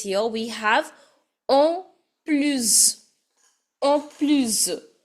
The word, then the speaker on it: en plus: En plus. Last S is to be pronounced as Z.